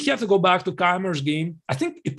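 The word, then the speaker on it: Keymer: is in German language, and Keimer is in English language, but we are just trying to pronounce it correctly. So maybe, yeah, we indeed can stick to his German language, Keimer, so be it.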